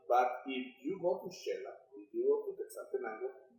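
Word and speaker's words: Xela: But it's pronounced like Shela.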